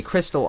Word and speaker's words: Xtal: According to Reddit user The Emo, Xtol is a crystal oscillator used in CPUs. It could also be pronounced crystal, like Xmas is short for Christmas.